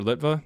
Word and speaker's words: Litwa: David Litva, Dr. Litva. If you're familiar with him, I don't know. It's spelled Litwa.